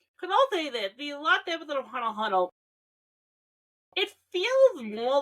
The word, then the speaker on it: Hunter x Hunter: And yes, it's Hunter x Hunter. I know there's an X. You don't pronounce the X.